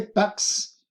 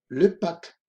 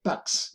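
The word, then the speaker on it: PACS: Le mariage, le divorce, le PAC, excusez-moi, le PAX, se pronuncia la S, le PAX, la dissolution, l'union libre, la separación.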